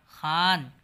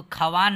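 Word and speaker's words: ख़्वान: इसको खवान नहीं पढ़ेंगे आप लोग, बल्कि खान पढ़ेंगे। उसी तरह से खवाब नहीं बल्कि ख्वाब पढ़ेंगे, ख्वाब।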